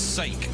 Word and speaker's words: sake: And here in America, it's sake, you know, like oh, for Pete's sake, not like that.